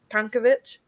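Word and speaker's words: Čanković: Like everyone says it's Kankovic, but the little accent means it's like a t sound, and I get told off.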